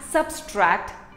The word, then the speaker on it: subtract: Here are some more words that we pronounce wrong. It is not subtract, it is subtract, subtract, subtract.